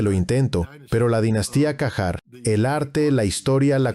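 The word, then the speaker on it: Qajar: Terán están haciendo estallar construcciones de la época Cajar. Y de nuevo, puedo estar pronunciándolo mal.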